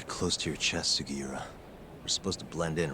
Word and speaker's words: Sugiura: I feel like every single time I say his name, I'm pronouncing it slightly wrong. Let's go, Yagami-san. It's Sugiura.